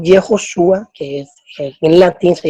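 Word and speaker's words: יְהוֹשֻׁעַ: Y si vamos a mirar cómo se dice Josué en hebreo, que es Yehoshua, que así se dice Jesús en hebreo también, Yehoshua, tenemos la Hei, la Bau, la Shin, la Ayin.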